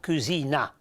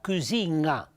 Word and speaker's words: cucina: Però attenzione, che questa N sì, non è pronunciata cucina, ma le pronunciata cucina. E prima di pronunciare la vocale, dopo aver pronunciato la N, è come una sospensione, un momento cucina, cucina. Questo è un suono particolare della lingua piemontese, ecco.